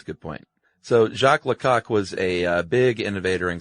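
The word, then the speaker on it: Lecoq: study at the uh, Echo International de Jacqu Lau. Jacqu Lok Jacqu Lok. Is that how it's pronounced? Yeah. You sure it's not Lau? No, it's definitely Lak.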